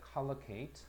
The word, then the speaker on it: collocate: collocate. 이것도 발음 잘 보세요. color, 그지? collocate. 연결하다.